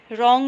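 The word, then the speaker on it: wrong: knit में के silent है, रॉन्ग में W साइलेंट है, डाउट में B साइलेंट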